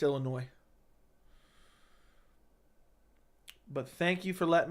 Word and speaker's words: Illinois: what you're saying there Illinois the S is silent do ever because everyone pronounce it that way though I feel like most people say Illinois but I know what you mean it's Illinois but thank you for